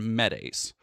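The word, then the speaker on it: MHETase: Uh ACE ace, sorry, that's how they say it. Pase and medase.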